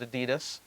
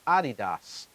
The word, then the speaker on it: Adidas: In America, we call it Adidas, but in Germany, it's Adidas for Adi, Adolf, Dassler, Adi, Das.